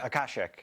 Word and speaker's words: akashic: right is that how you say it akashic aashic records.